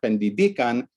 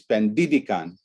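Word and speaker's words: pendidikan: up always being uh the prominent syllable always ends up being on the penultimate syllable of the root regardless of suffixes so this is education and it's not pandibikan it's pandidicon but still the pitch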